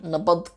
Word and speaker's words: nabad: Like when you say goodbye, nabad giliu, a lot of people write it nabat with a t. It's not. The word nabad, meaning peace, is spelled with a D at the end.